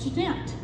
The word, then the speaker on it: Janet: He and Winifred looked in the dictionary and saw that her name could be spelled Janet and pronounced Jeanette.